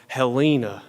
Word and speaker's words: Helena: the town is called Halina yes spelled like Helen Helena Montana but pronounced with a very long southern e and a more recent